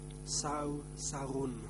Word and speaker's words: Sao Sarun: Et est-ce que vous pourriez me dire si votre nom se prononce Sao Sarun ou So Sarun? Réponse. Mon nom est Sao Sarun.